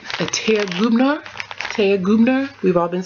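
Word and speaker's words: Thea Gouverneur: Basically, my team got me, let me say it right, a Thea Gubner. We've all been saying Thea Governor.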